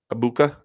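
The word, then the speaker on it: Egbuka: Cowboys wow AA uh how do you say his last name abuka abuka yeah goes to the Bengals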